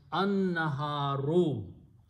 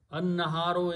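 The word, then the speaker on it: النهار: This is shamsi letter, so it becomes an-naharu. An-naharu is the full word.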